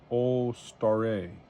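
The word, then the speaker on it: Suzuki Alstare: graphics accelerator for PCs Suzuki allair pronounced olar oh Suzuki olar okay thousand arms an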